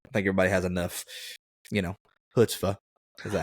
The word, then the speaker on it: chutzpah: I think everybody has enough, chutzpah.